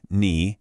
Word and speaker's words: 你: The first word, ni, has a third tone. It's a dipping tone.